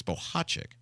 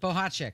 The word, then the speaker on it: Bohacek: She's like, it's Bohacek, and so look, she's a world traveler and she knows how to pronounce things. So I said, well, I'm going with that. Bohacek.